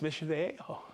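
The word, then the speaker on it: Mission Viejo: You thought I was going to mispronounce that. I really did. Yeah, it's Mission Vejo in California.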